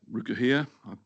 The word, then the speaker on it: Rukuhia: State Highway 3 at Rukuhia, that's how you say it, and State Highway